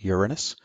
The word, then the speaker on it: Uranus: tutorial Beyond Saturn is Uranus and yes I'm pronouncing it Uranus beyond that Neptune and for Old Time sake